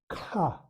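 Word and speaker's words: ཁ: How do you pronounce it? Aspirate. Ka. Ka is mouth. M-O-U-T-H, mouth. Ka. Ka. Ga. Ga. Ga. The difference are ka, ka, ka, ga, low tone.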